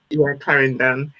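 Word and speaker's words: Clarendon: is that correct yeah yeah they're from um claran in Jamaica that's the way you pronounce it yeah Claren and so my parents broke up when I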